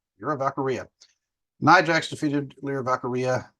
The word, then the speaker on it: Lyra Valkyria: But Lyra Valkyria, Lyra Valkyrie, like Valkyrie. I was like, duh, Valkyria. Lyra Valkyria.